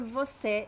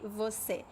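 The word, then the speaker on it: você: in my opinion so when you say a sentence we don't say voce if i say just the word i'm going to say voce but if i say a sentence many times i'm not not always but many many times i'm just going to say see and the word the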